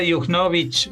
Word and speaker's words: Juchnowicz: Y Sara Yujnovich, no sé si he pronunciado bien tu apellido.